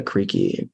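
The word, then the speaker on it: Karejci: was somebody named Martha creaky I think that's how pronounced it's like k a r e j c i I think one of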